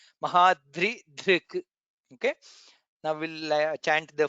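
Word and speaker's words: महाद्रिधृक्: So we should be very careful to pronounce all the three letters there. The, Rakara and Dhr. Mahaprana Dhr. Mahadri Dhrik.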